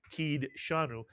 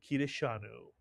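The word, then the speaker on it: קידשנו: And again, the dalet has a pronounced shva. We wouldn't say kid shanu, and you'll hear many people say that. But the actual pronunciation of this word is kideshanu, mitsuyan.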